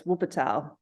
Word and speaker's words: Wuppertal: I didn't know too much about your time over there with, I apologize if I mispronounce it. Is it Wuppertal? It's Wuppertal.